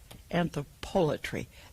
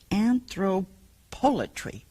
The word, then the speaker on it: anthropolatry: Now, that's how I pronounce it, because I've never heard people talk about this. It's spelled, this is a philosophical dictionary definition of anthropolatry, P-O-L-A-T-R-Y. I don't know where they put the accent on that.